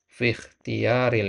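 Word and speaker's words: في الاختيار: Perhatikan fi ikhtiyari, ini hamzah wasal, ya. Hamzah wasal itu tuktab wala hamzah wasal itu tuktab wala tuntak. Ya, dia itu ditulis tapi tidak dibaca. Ya, ini, ya. Fi ikhtiyari bacanya, bukan fi ikhtiyari. Dia dibaca i kalau dia di awal kalimat. Ya. Selain itu maka dia tidak dibaca.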